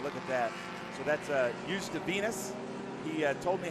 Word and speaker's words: Uzdavinis: You just drop the Z. Yeah. Just drop the R. He said it's Uzdavinis.